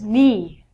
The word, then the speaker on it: knee: But when you say it, take the silent letter out. Next one is knee.